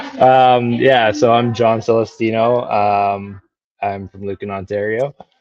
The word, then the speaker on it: Celestino: We have John Celestino. Did I pronounce that right?